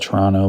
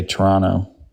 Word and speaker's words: Toronto: We just don't pronounce the the second T. We just say Toronto.